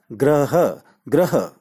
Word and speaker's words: ग्रह: planet वाला ग्रह है तो भविष्य में जब हम इसका उच्चारण करें तो वह उच्चारण होगा ग्रह ग्रह दूसरे शब्द के उच्चारण